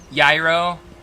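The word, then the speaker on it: gyro: Yro. Oh, that be how you pronounce it.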